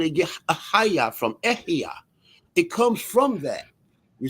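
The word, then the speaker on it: אהיה: You see, ahaya or ehia, more properly pronounced, because there's no word as ahaya, right? It's ehia.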